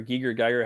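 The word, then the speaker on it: Giger: Once again, a lot of Geiger, like right there, or Geiger, however you want to pronounce it.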